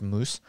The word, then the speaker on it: Mauss: referring to one is the the anthropologist marcel moos that's m-a-u-s-s pronounced moose he was essentially the nephew of the even